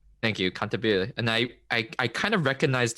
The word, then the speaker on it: Cantabile: I can never pronounce it right. Cantabile. Thank you, Cantabile.